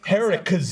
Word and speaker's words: Haracz: Haracz. Haracz is a. It's Harris, like, you guys don't have the bank out here, but it's Harris, like Harris. Harris. Yeah, Harris. Just like that.